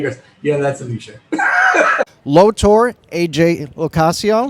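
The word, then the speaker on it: AJ LoCascio: yeah that's Alicia lowor AJ locaso you said it right yeah that's it yeah and we have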